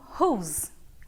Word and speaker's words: whose: Whose é como eu vou pronunciar who, aqui ó, bem fácil. Então tem o who, whose, whose.